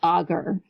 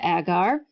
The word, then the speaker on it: agar: suggested well you know we use this agur um or if you prefer to pronounce it agar to thicken things in